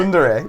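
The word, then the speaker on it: tsundere: Oh, she's That's Sundier. the kind of girls I like. Yes. Sundier. Is it- Sundere. Sundere, sorry.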